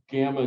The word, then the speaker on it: gamma: No, it's a G, hard G, gamma. Gamma. It's gamma. It's gamma. So the sound is just like our hard G.